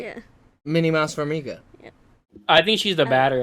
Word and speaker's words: Farmiga: Farga. Fargo? Patrick Wilson. There you go. Fuck off. Farmiga.